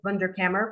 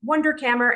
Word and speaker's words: Wunderkammer: or frame the work, in the Wunderkammer, or I should say Wunderkammer, but as an American, Wunderkammer, and it is spelled